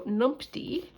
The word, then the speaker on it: numpty: It has come to my attention that I am not doing a very good job of pronouncing the word numpty, and I will write it out for you. So numpty, N-U-N-P-T-Y, numpty.